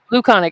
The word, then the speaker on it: Louconic: it's You, it's it's Luconic. Luconic. Okay, I thought I was saying it wrong at first, but Luconic is C no no Louc LOUCONIC. on the screen.